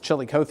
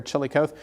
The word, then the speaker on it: Chillicothe: So Bethany, Missouri, there's plenty of activity down through north central Missouri, I think it's pronounced Chillicothe, Missouri, or Chillicothe, Brunswick, up to Kirksville.